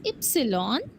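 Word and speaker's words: Ypsilon: pronounced S एक्स इ letter Y is called as एप्सलॉन बट व्हनेवर इट is present in a German word you only pronounce the first letter that is य it gives the sound of य और Y example yoga and later Z is called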